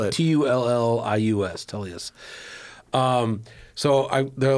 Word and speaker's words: Tullius: Spell it. T-U-L-L-I-U-S.